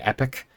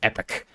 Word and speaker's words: epoch: An epoch, an epic, I think it's pronounced, E-P-O-C-H, an epic.